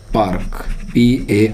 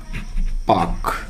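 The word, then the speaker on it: park: पर का आर की हम इसको पार्क बोलते हैं जो की बिल्कुल गलत है तो इसका सही उच्चारण आएगा पाक क्या बोलेंगे एक इंग्लिश एक अंग्रेज इसको पार्क नहीं बोलेगा पार्क बोलेगा तो इसका यूपा जो है पाक होता है ठीक है जैसे भाई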